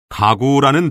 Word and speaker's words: 가구: 우선 여러분, 칠판에 있는 가구라는 단어를 발음해 보세요. 가구. 기역이 2번 발음되죠. 이때 첫 번째 기역은 무성음으로 발음되고 두 번째 기역은 유성음으로 발음됩니다.